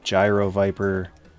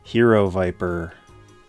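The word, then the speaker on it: Gyro-Viper: think it's called the gyro Viper but it's actually pronounced hero Viper all the Greeks out there know what I'm talking about it's the Cobra Mamba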